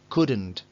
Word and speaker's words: couldn't: El could con la negativa normalmente se contrae formando couldn't. Y vuelvo a repetir, no hay L. Pronunciada, no hay L. Couldn't.